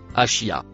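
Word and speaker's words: عشية: Le mot vert se prononce achia.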